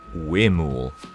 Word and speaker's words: huemul: and it's actually pronounced Huemul. So the H-U-E is pronounced as in W-A-Y, so way. And then the M-U-L is pronounced M-O-O-L, so it's the Huemul.